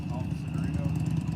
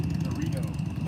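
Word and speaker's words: Garrido: Gorrito. What was it? Gorrito. Oh, Gerrio. Can you spell it?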